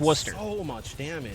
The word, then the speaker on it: Worcester: a town called Worcester in Massachusetts and it's pronounced Worcester so you just kind of see that's how